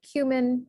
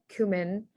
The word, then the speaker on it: cumin: And then one more Arabic example, you have cumin or cumin.